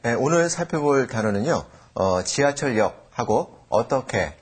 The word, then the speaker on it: 지하철역: 지하철역하고 어떻게 이 두 단어입니다. 지하철역은요. 발음할 때 지하철역 이렇게 발음하시면 되고요.